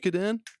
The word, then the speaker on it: Suikoden: Like kept calling it Sui Koden or Oh, dude, no. or like it's not like almost like chop suey, and I'm like Suikoden.